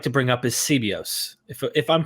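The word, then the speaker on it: Sebeos: to bring up is sibios if if I'm pronouncing that correct is it sibios I I would say seos seos Okay I want to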